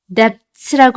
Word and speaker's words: debts: debts라고 알고 계신 분들 많으시죠? debts 아니고 B를 발음하지 않으세요. 그러니까 debts 이렇게 읽으시면 돼요.